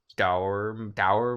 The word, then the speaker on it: dour: Like look at it. Look at it, right? It's just like sour, but with a D. It's just like sour. It's spelt the same, but the first letter is different. That doesn't mean anything in the English language, though. But it does for this word.